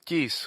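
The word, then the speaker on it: Chalcis: this certain cities including the city of uh Calkius I think is how you say that one Kis decided to offer him a cult Plutarch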